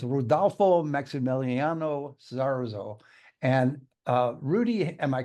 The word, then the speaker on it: Sarzo: talking before the show and it's rudo mexo Saro and uh Rudy am I correct on my pronunciation or a little off already no that